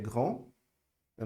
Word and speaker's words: grande: Então, il est grand, eu não pronunciei o D, e no feminino eu vou pronunciar o D. Elle est grande, beleza?